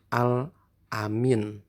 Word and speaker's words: Al-Amin: kejujurannya beliau mendapat gelar Al Amin Hai bacanya al-amin bukannya Alamin Ya tapi al-amin apaan anak al-amin yang